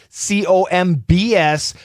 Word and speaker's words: Combs: everybody luke l-u-k-e combs c-o-m-b-s put the k sounds together luke combs the b is silent dummy unless you're dumb